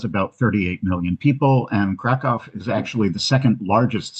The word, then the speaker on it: Krakow: Krakow, or Krakow as it's pronounced in Polish, is quite far south in the country.